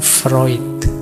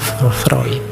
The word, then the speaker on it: Freud: antara lain dari Sigmund Freud dulu pernah kita bahas beliau ya yang terkenal dengan psikoanalisisnya tulisannya fre bacanya frid Awas keliru cara bacanya tapi ya Gak apa-apal